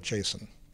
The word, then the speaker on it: JSON: does one pronounce JSON so I always called it Jason Jason like the person's like the person's name and like most people